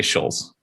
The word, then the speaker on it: Schulz: you pronounce that will i say shalls shells that works for me all right and then